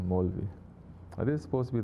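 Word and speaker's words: Maulvi: How do you say? Molvi. Not Mawlavi, Molvi.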